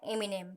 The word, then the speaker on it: एमिनेम: Which is produced and written by एमिनेम। देखिए यहाँ पर जो एमिनेम है उसका जो प्रोनाउंस ऐसा होता है एमिनेम, ठीक है, तो आप उसका ध्यान रखिएगा।